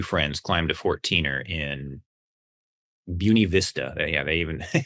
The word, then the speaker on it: Buena Vista: Buun Vista is how you say the town.